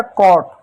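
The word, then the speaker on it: caught: यहां सी ए यू जी एच टी सी का क्या पढ़ेंगे? क पढ़ेंगे। ए यू को क्या? औ की मात्रा पढ़ेंगे। जी एच क्या है? साइलेंट होगा। टी को क्या पढ़ेंगे? ट पढ़ेंगे। हो गया क्या? कॉट ठीक उसी प्रकार एक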